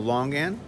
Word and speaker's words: longan: this is called the longan long gam long long game l-o-n-g l-o-n-g what do you pronounce the g yeah l-o-n-g and we